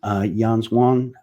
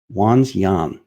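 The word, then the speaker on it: Wanxiang: Funded by China's Yanswan Holdings, it says, I'm having such a hard time saying this word. Wanzyan is how you say that.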